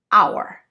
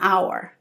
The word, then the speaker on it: hour: Look at these two words: hat, hour. Both of them start with the consonant "h" but "a hat", "an hour" because the h in hour is silent and so the word begins with a vowel sound "ou".